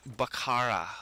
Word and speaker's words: Bakaara: for you on bakara I'm sure that's how I'm supposed to pronounce it it's bakara a bakara and uh in this